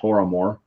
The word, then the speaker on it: Tormore: It's a Gaelic word for Toramore. So it's Tormore, but obviously they would pronounce it Toramore.